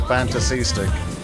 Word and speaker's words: Fantasystic: Turns out I was pronouncing that right, by the way. Fantasystic.